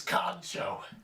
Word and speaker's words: kancho: Today's word is known as kancho. Pronounced exactly the way it's spelled, ka-n-cho.